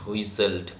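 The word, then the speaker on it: whistled: আকাশের ওপরে, the wind হুইসেলড continually, বাতাস কন্টিনিউয়ালি অর্থাৎ অনবরত। কন্টিনিউয়ালি মানে কি, কন্টিনিউয়ালি মানে অনবরত, অর্থাৎ বাতাস অনবরত শীষ দিতে লাগলো। হুইসেল মানে হচ্ছে শীষ দেওয়া, টি এর উচ্চারণ সাইলেন্ট থাকবে। হুইসেলড, শীর্ষের মতো আওয়াজ দিয়ে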